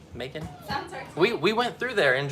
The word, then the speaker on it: Macon: i pronouncing it right it's kind of like bacon but with an m macon we went through there